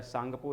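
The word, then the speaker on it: Tsangpo: नाम था टेक सांगपो वैसे प्रोनाउंस किया जाता है सांगपो लेकिन लिखा जाता है टिप्स सांग हो और इसी का जो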